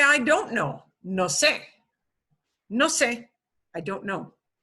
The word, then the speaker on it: sé: That accent mark does not change how we pronounce it. It's just in writing form.